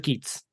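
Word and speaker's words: Keith's: is Alexander keiths okay it's pronounced ke TS ke but it's spelled my it's spelled like my name it's pronounced e t okay that makes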